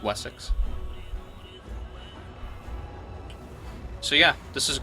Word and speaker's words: Wessex: the king of Wessex I keep saying vessels because that's kind of how they say it in the show but it's Wessex so yeah this is